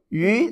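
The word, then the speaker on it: 鱼: Yu, the second tone. Yu, that's a fish.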